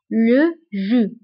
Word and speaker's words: jus: هنا ايضا بالنسبه لو جو كنكتبوها باس في اخر الكلمه ولكن لا تنطق le jus.